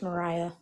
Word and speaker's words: Mariah: it's hard if you don't have like a Wait, Maria, special what's offensive towards a white person? it's Mariah. I apologize. So that was offensive to me. I'm sorry I mispronounced your name.